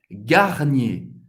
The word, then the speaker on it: Garnier: Garnier. Garnier. Duas sílabas. Garnier. Mais uma vez. ER no final de uma palavra vai ter o som do E.